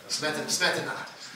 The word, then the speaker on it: Smetana: Yes, and Smetana is good too, right? I mean, is that right? Did I pronounce that correctly? Yeah. Smetana.